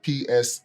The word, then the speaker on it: Samuel: Well, my name is Samuel, Psalmwell. Yes. Sorry, spell it again. So, hold on. Come, let's spell it. The Psalm in the Bible, then you have well, but sometimes people say that. Well, as in well that come back. But sometimes the well doesn't really.